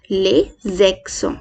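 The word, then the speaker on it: les accents: अभी आप मेरे साथ इसको प्रोनाउंस करें। द फ्रेंच एक्सेंट इज ले ज़ेक्सों, ले ज़ेक्सों, ले ज़ेक्सों, ले ज़ेक्सों।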